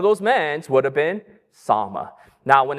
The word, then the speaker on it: Salmon: find out that she married a man named Sama. It's spelled salmon. It's not salmon. He's not a fish, but it's Sama.